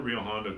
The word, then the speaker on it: Rio Hondo: So it's spelled like it sounds. Yeah, okay. Rio Hondo.